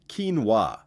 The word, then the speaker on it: quinoa: Quinoa is said kee-nwa.